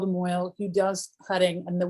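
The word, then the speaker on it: mohel: We get what's called a moil, M-O-H-E-L. You can see the name right here, moil. I know, you're like, how did you get moil, which sounds like oil, out of M-O-H-E-L?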